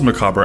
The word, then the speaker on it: macabre: Today we will focus not so much on those macabre aspects of human.